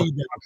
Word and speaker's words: Wydad: And it's pronounced Wydad.